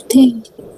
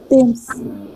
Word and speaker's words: Thames: Thames. Pardon? Go ahead. Thames. Who is this? Yeah. Can you say it again, ma? Thames. Thames. Okay. So there is no th sound.